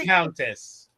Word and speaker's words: Viscountess: Viscountess. What is it? The S is silent.